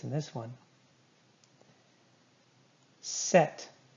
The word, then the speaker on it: sept: Set. Do not say the P. Set.